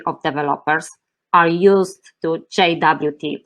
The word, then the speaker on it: JWT: hear the pronunciation as jwt but the rfc suggests the same pronunciation as the english word jot by the way jut